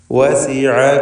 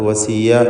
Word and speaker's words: وسع: വസിഅ കുല്ല ഷൈഇൻ ഇൽമാ. വസിഅ, ഐനിൻ്റെ ഉച്ചാരണം നേരത്തെ സൂചിപ്പിച്ചതാണ്. അത് വസിയ എന്ന് തെറ്റായി പലരും പറഞ്ഞു പോകും, അത് സൂക്ഷിക്കേണ്ടതാണ്.